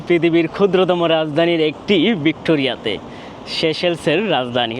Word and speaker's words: Seychelles: আপনাদেরকে স্বাগত জানাচ্ছি পৃথিবীর ক্ষুদ্রতম রাজধানীর একটি ভিক্টোরিয়াতে শেষেলসের রাজধানী অনেকে শিশিলিজ বলে যদি উচ্চারণ হবে শেষেল তো সেশেলের রাজধানী থেকে